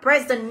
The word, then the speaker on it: present: Và lúc này khi là tính từ đọc là present nhá.